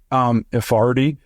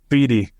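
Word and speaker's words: Ifedi: I don't know if their plan was just elevating the dude they elevated, however you say his name, Ifardi. Feedy. Like, I know that silent R that's not there.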